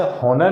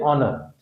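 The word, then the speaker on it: honour: जाएगा नर ओनर तो ओनर में एज साइलेंट होता है से हनर नहीं पढते क्या होता है य ऑनर ठीक यह ऑनेस्ट ऑनेस्ट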